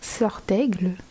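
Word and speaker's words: Serdaigle: Hey, so the correct French pronunciation of the Hogwarts houses, we have Gryffindor, Gryffondor, Ravenclaw, Sœur d'Aigle, Hufflepuff, Pouf Souffle, and Slytherin, which is Serpentard.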